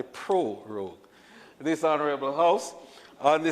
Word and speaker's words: prorogue: You know, many times the pronunciation and people miss the first R and end up saying prorogue. It is actually prorogue.